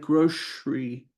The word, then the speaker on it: grocery: And of course, the store where you buy them is the grocery store. Some people pronounce it more like grocery with an SH. I've heard both pronunciations all my life, grocery or grocery.